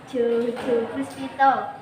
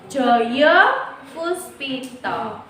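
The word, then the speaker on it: Djojopuspito: Pertama, Sugondo Jojo Puspito. Joyo Puspito.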